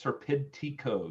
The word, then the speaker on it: Serpentico: Serpentico.